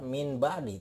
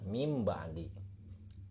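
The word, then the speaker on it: مِن بَعْدِ: Ini tidak dibaca min ba'di, tidak. Ini dibacanya mim ba'di. Jadi mim ba'di ya.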